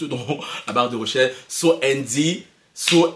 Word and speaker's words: So Andy: sinon tapez juste dans la barre de recherche so Andy so s espace Andy comme Andy ça se prononce voilà je suis dans une secte vous